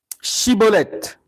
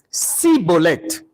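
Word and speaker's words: Schibboleth: Il lui disait alors, 2 points, eh bien, dis Chibolette. Et il disait Cibolette, car il pouvait pas bien, il ne pouvait pas bien prononcer.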